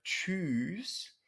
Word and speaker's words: Tschüss: Esta palabra también se puede pronunciar Tschüss, o sea, con una duración de la vocal muy larga, pero en ese caso se escribe un poco diferente, de una manera diferente,